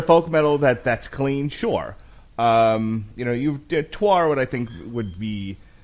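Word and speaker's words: Týr: Yeah, I mean, I thought it was pronounced tier 2, but when I've heard the band pronounced as Twar.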